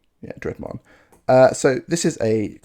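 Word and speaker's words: Draugr: Next card I want to talk about is Rise of the Dreadman. That's how you say it. Yeah, Dreadman.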